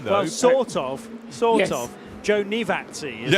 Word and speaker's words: Giovinazzi: Joe Nivazzi, it's Joe pronounced.